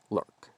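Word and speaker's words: Lyuk: colors vary wildly like spelled l-y-u-k also be pronounced lurk a type of blood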